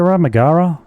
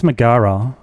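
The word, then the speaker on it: Megaera: I think it's Maggara because in Hades her name is Mega and that's what I was calling her up until um I heard somebody say her name in the rising in a voice line.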